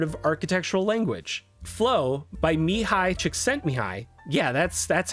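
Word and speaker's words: Mihaly Csikszentmihalyi: Flo by Mihi Chicken Mihi. Yeah, that's that's how that's pronounced.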